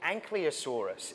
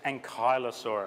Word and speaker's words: ankylosaurus: is closely related to the anosa surus is that did I did I pronounce it right the anosa it's ankylosaurus ankylosaurus I think the question